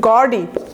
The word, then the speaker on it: gaudy: গডি, GAUDY, দেখেন উচ্চারণটা একটু GAU আছে যেহেতু, সো একটু গডি এভাবে একটু টান দিবেন।